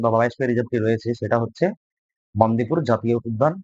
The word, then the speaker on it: বন্দিপুর: রয়েছে সারিস্কা সিংলি পাল বন্দিপুর silent valley আচ্ছা এটা বান্দিপুর নয় বন্দিপুর silent valley national park